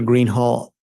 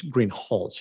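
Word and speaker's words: Greenhalgh: you your honor officer Greenhall I believe I mispronouncing your name it's green hch isn't it correct okay I apologize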